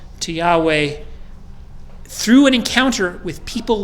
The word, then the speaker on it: Yahweh: the name is pronounced the scholarly consensus is Yahweh emphasis on the last syllable there's some Coptic and Egyptian sources that make me think Yahoo but I don't know